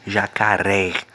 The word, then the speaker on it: jacaré: Jacaré. Observem que na palavra, a partir do momento que eu coloco esse acento agudo da palavra, a pronúncia, tá certo? Desta palavra passa a ser com o som aberto.